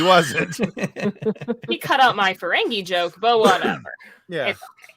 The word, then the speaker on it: Ferengi: It's not Ferengi, I can tell you that much. It's Ferengi. It is Ferengi.